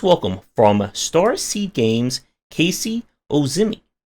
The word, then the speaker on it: Ozymy: than most people uh it's it's pronounced uh ozimi yeah well I'm glad